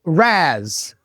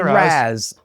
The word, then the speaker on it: Raz: Raz. Well, Matt, don't say it like that. I mean, just say it normal, man. Just hey, Raz.